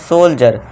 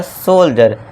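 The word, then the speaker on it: soldier: Example है हमारा सोल्जर अब डी से पहले ये है और डी के बाद आई ई आर है। आई ई आर हमने देखा था। तो यहां भी क्या हो जाएगा? सोल्जर। डी का साउंड क्या हो जाएगा? ज का हो जाएगा।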